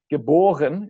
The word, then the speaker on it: geboren: Born, geboren. In German the emphasis is still on the B, the second syllable.